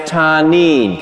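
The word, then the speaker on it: תנין: It's a Hebrew word. It's pronounced tanin.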